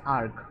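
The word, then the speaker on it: erg: বাট এখানে এককটা হচ্ছে আর্ক আর্ক বা আর্জ আমি দুই রকমের উচ্চারণে দেখছি ক্লাস আমাদের শুরু হয়েছে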